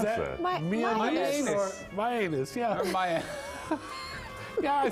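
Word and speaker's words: Mianus: My anus. Yeah. Or my yeah, I suppose it's just like Miami, only my anus.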